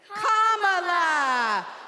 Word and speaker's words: Kamala: First, you say comma like a comma in a sentence. Then you say la like la la la la la. Put it together, and it's 1, 2, 3, Kamala.